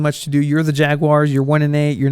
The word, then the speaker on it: Jaguars: Green Bay Packers over the Jacksonville Jaguars. As some people incredibly inaccurately pronounce the Jacksonville Jaguars. It's not the Jaguars, it's the Jaguars. Jaguares, not Jaguares.